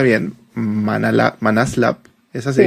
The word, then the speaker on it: ManasLab: Nos acompaña Gabriela Sánchez, que es founder, actualmente es founder y le consultan en Se pronuncia bien Manaslab. Es así. Manaslab. Manaslab s.